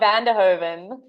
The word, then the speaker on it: van der Hoven: That is the best pronunciation of my surname ever. Not Vanderhoven.